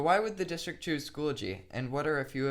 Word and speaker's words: Schoology: anyone who pronounced it school ology but the correct pronunciation is school G school ology maybe caching but it contains an extra syllable that the word Schoology does not contain pronunciations aside a recent